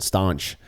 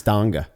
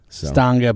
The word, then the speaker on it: Stange: pronouncing it uh like like a French person stanch that's what I thought it was it's it's Stanga Stanga but it's real soft you know when you